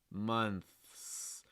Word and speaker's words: months: the th that month and the s months months and this goes back to what i had said originally you know if you are just kind of lightly pressing against the back of your top front tooth that's going to make sliding up into the s position easier let's months record yourself and if you only hear the th sound make sure that you add an s sound after it that's a huge issue